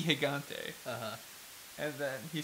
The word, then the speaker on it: Gigante: Top 10 List says that he remembers Mucha Lucha Gigante on Cartoon Network, and they accidentally pronounced it gigantic. It's supposed to be Gigante.